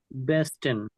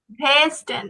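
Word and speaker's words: Westen: বলেন তো দে আর নর্ডেন জুডেন ইয়া দেয়ার বেস্টন আবার বলুন তো এটা বেস্টন ভেস্টেন ভে হবে না ভাইয়া বেস্টন হ্যাঁ আপনি যখন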